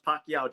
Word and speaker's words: Pacyau: And yes, it's pronounced Pacquiao just like the boxer Manny Pacquiao.